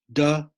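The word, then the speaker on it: 德: De, Te, pronounced de, it means power.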